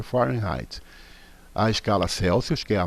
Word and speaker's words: Fahrenheit: de escalas termométricas fahrenheit a pronúncia fahrenheit está gente se escreve assim mas é forma em raid a escala celsius que